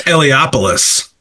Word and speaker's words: Eliopoulos: I can't pronounce the letterer's name. Chris Eliopoulos.